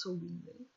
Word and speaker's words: Samhain: It's written Samhain, but it's pronounced Samhain. Not in French, in original language, I guess it's Gaelic.